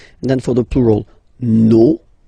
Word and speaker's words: nos: No, you don't pronounce the final S. Vos, you don't pronounce it. Leur. Okay, so if we say that one more time, it's me, te, se, and then nos, vos, leur.